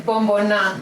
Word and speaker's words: Bomboná: How do you pronounce it? Yeah, Bombona.